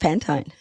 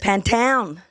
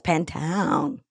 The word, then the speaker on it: Pantone: It's not. It's an American company and it's pronounced Pantone. There you go. Hot tip for today. It's Pantone.